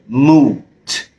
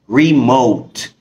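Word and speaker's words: remote: من نطق الكلمه دي لان اغلبنا بينطقها موت لكن نطقها الصح هو مش موت ريموت ري اوك اوك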